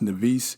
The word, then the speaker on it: Nevis: He was born, they say they don't really know, either 1755 or 1757 in the Caribbean, the Isle of, I think it's pronounced Nevis, Nevis, Nevis.